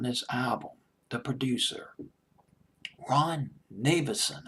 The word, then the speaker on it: Nevison: album, the producer, Ron Nevison. I believe that's how you pronounce his name. Nevison. Or, yeah, Nevison. I'll just pronounce it as Nevison. Nevison just sounds better.